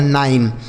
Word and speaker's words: nine: NINE 9, इसे नीन नहीं पढ़ना, ना तो नीने पढ़ना, क्या पढ़ना 9।